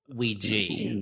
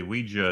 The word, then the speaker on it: Ouija: episode we watched Ouija Ouiji Ouiji actually Ouija is the preferred pronunciation by who no one on the dictionaries on the dictionaries